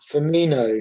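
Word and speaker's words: Firmino: correct in my pronunciation it's pronounced fimino not i'm not a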